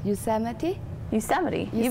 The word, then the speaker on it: Yosemite: I forgot how to pronounce this. Yosemite. You've got it right on. Yeah. That's perfect.